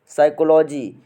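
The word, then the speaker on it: psychology: Next है friends हमारा साइकोलॉजी। साइकोलॉजी में फ्रेंड्स पी साइलेंट होता है।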